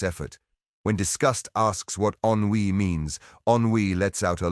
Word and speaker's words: Ennui: Finally, Ennui steps off the elevator. Ennui, pronounced ennui, is the embodiment of teenage boredom.